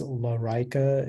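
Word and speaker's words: lorica: uh your word is larica all right the only pronunciation is la rica it's a noun and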